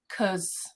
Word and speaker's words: because: yeah it's not as it goes from cause to more of a schwa cuz but it's still because